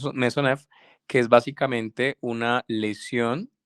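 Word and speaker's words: Maisonneuve: Se llama maisonel o se pronuncia mesonev, que es básicamente una lesión ligamentaria.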